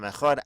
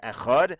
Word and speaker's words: Echad: Anybody who lengthens his pronunciation of the word Echad, he will have long days and long years.